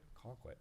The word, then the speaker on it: Colquitt: Colquitt, isn't that how you say it?